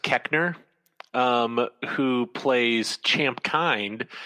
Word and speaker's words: Koechner: Did you know I once heard David, I think it's pronounced Koechner, who plays Champ Kind, say that the original